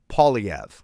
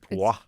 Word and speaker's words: Poilievre: His name is Pierre Poilievre. Yes. So I do the OI, so I was like Poix, like it's Quebec. Poix. Shouldn't we do a Poilievre.